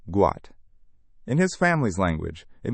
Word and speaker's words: Gout: His real name is Gout, pronounced Gout.